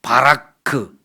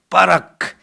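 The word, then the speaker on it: בָּרַךְ: 좀 약하게 발음 발음하면 바라크. 또 세게 발음하면 빠라크는데이 단어는 세게 발음을 해야 돼요. 빠라크.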